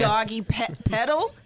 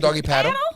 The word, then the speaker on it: doggy paddle: Doggy pedal. I said doggy He paddle. said paddle. I said doggy paddle.